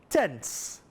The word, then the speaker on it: tenths: Firstly, the tenths value that ends with a T, H, and a S. And emphasize that when you say it, tenths.